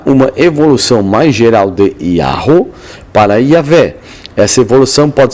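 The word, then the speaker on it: Yahweh: tal questão Em contrapartida parece bastante claro que a pría original de yavé foi yaho ou yahu de onde vem então uma pronúncia yavé atestada sobretudo pelos pais da igreja trata--se simplesmente de uma especulação erudita a partir da apresentação Divina em Êxodo 314 né Eh Y de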